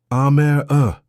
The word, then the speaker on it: Amara: Aare, she'd say, like camera with an A.